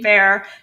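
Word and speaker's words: Bexar: Bear being bear. Never heard of a silent X in school.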